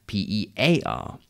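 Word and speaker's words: pare: And tear rhymes with pair, P-A-I-R, meaning two of something, and pear, P-E-A-R, that delicious fruit, and P-A-R-E, pear, which is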